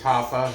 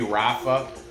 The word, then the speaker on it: Rafa: close and huffa garcia i do believe it's hapa maybe rafa it's part spelled with r but you know the spanish i think i think it might be hapa hapa garcia but um